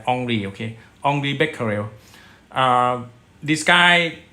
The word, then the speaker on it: Henri: All right, in 1896, the French physicist, his name is Henry, but I think it should be pronounced as Henri.